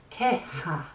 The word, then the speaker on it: queja: So it's like que, what, and ha, like ha ha ha. Queja. So what makes you laugh? A complaint? I don't know. Una queja. So estos problemas no son quejas porque hay una solución, ¿sí?